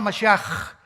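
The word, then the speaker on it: משיח: Se escribe Mashiach. Jesús el Mesías en el hebreo. Pero se pronuncia la CH. Yeshua Mashiach.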